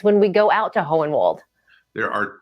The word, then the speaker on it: Hohenwald: Hohenwald, Tennessee. Did I say that right? I'm from Tennessee, and I always get nervous when I try to pronounce Hohenwald. But you have the good German name, Hohenwald.